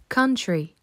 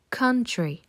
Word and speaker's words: country: il se prononce a ce son est à mi-chemin entre un A et un o country country répète avec moi country